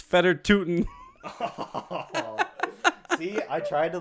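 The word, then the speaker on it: Fedor Tyutin: tell you that much Fedor tutsian it's feder tootin see I tried to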